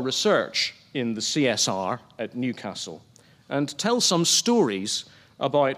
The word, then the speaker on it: Newcastle: Known simply as Newcastle or as it is pronounced by its locals, Newcastle, the city is on